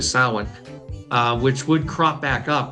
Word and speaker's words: Samhain: They refer to it as Samhain. Actually, the pronunciation is Samhain. Funnily enough, I don't know if Donald Pleasance fought with anybody over that, but ultimately they went with the phonetic pronunciation. It's actually Samhain, which would crop back